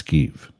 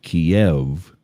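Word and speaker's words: Kyiv: instructed by keev remember Kiev that's keev turns out for decades we've been spelling it wrong and pronouncing it wrong so you you used to see it Ki I EV it is now KY IV and instead of Kev it's ke it is the capital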